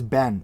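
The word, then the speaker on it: בן: The Hebrew word for son is ben. It's spelled bet nun.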